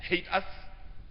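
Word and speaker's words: HATEOAS: appication State uh and I just pron pronounced this as hate us uh this is the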